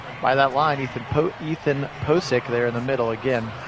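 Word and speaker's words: Pocic: taken care of by that line ethan ethan posik there in the middle again kit and i have been saying his name wrong i want to make sure that i correct that ethan posik the center and now that's going to be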